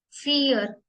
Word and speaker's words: vier: 1 को हम प्रोनाउंस करेंगे आइंस. आइंस. आइंस. सेम 2 स्वाई. Zwei, 3, drei, drei, drei, 4, vier, vier, 5, fünf, fünf, fünf.